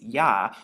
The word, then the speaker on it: Yah: or ha and so we have the Y and the he which makes yah when you put it together and you actually see